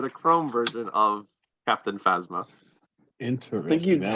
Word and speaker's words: Phasma: I don't know how you pronounce that one. The like Chrome Phasma.